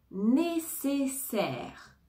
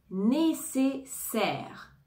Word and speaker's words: nécessaire: minute musique musique musique nécessaire nécessaire ici on a le a et le I qui vont se prononcer e nécessaire nécessaire objet objet objet